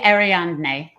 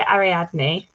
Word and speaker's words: Ariadne: dead language you can get away with the pronunciation okay say ariandee say it so i i think i would say ariadne ariadne okay i'm i'm doing it semi right